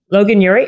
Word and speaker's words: Logan Ury: So your name is, I have Logan Ury. Is that how you pronounce it? Yeah. Logan Ury.